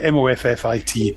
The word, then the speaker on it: Moffat: I was going to say, I think I'm in that group, Stephen Moffat. Moffat. It's Moffat. It's just like Moffit, Moffat.